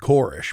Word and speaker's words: Koresh: I've also heard him called Korish, but I won't.